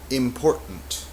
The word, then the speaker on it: important: So it sounds like important. Some people say important, but it's a very soft T if it's there.